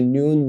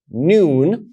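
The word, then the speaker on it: ן: So here you have vav, which is pronounced va, and here you have noon, the final one, which is pronounced na.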